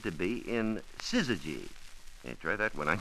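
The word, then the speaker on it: syzygy: an eclipse, they are said to be in sizzy. Hey, try that one on your champion someday. It's spelled s y z y g y.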